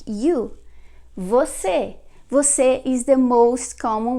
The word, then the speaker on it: você: Usually Brazilians, they don't say the whole word like você. They usually say se. They just pronounce like se.